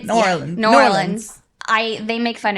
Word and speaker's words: New Orleans: You can pronounce it for me. Always forget. It's New Orleans.